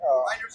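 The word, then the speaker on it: Reijnders: Reinders, yeah. Reinders.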